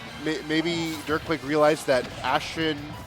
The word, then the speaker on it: Ashtin: I I wonder maybe maybe it was like maybe maybe Durkquake realized that Ashen, it's pronounced Ashen, like has more like info on the ditto